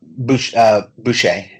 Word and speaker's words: Boucher: Is how you pronounce it? Collection? Boucher.